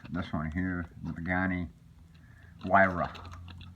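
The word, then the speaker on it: Huayra: one here the ghani why ruff i don't know why this sounds like a w but when they pronounce it i believe it's wira um but yeah man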